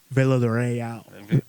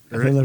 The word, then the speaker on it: Villarreal: Villarreal. Villarreal. You had to roll R's.